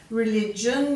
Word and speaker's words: religion: Religion, you've got the GI making that soft J sound there.